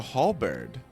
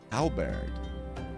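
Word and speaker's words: halberd: The thief is said to be a towering brute dressed in red who wields a halbird. Halbert.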